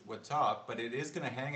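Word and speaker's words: watap: be the word w-a-t-a-p i believe pronounced with top but it is gonna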